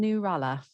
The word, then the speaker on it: Nurella: elaine macy and then nurella is that the right pronunciation um yes uh yes yeah it was correct thank you um so